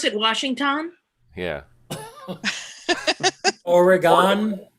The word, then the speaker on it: Oregon: pronounce it washington yeah oregon organ like oregon oregon o-r-y-g-u-n yeah but the y is really fast yeah super fast like you don't even hear it very good we also